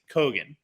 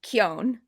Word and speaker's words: Keoghan: I think it's Kogan. Kogan. Okay, all right. I've been saying Keoghan.